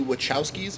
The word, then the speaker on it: Wachowskis: think this movie is a war crime the Wachowskis if I'm pronouncing that right yes you are ah both